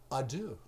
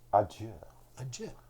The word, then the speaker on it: adieu: we have to say adieu. Adieu. Adieu. Or if you're going to say it right, you got to say adieu. Adieu. Or... Or if you want to say it the French way.